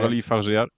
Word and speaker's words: Coralie Fargeat: Coralie Fargeat.